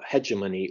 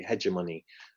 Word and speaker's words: hegemony: And his theory is hegemony or it's pronounced in different ways, but I always say hegemony. I can't pronounce it the other way, but hegemony is how I pronounce it.